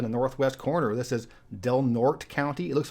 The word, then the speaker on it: Del Norte: with up in the northwest corner this is delnort County it looks like Del Norte but it's pronounced delnort has about 27,000 people and the